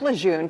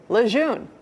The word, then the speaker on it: Lejeune: Yeah, Susie wrote in saying, I have never heard anyone on your station pronounce Camp Lejeune correctly. They always say Lejeune. It's not that, it's Lejeune.